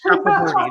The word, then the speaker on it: Chakraborty: I don't know how to pronounce it. It's something like that. The whole series. S.A. Chakraborty. Yes. Chakraborty.